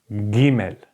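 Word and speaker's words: גימל: not gender it's GE it has to be pronounced like like in going or go okay so as far to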